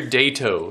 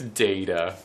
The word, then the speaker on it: Data: Could be like Lieutenant Commander Dato of the Starship Enterprise. No, I know it's data.